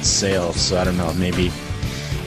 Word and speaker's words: Sale: I've heard it I've heard other people pronounce it as Sai before. I have no idea why. I think it's himself. I've never heard of it anything else but sale.